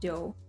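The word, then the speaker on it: 九: número 9 el número 9 se pronuncia como joe que es el mismo fonema que larga duración por tanto mucha gente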